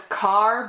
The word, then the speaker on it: Kerr: And so is, I hear her name pronounced as Carr, but it's spelled K-E-R-R, so I've always said Kerr. But Deborah Carr, she is great in this as well.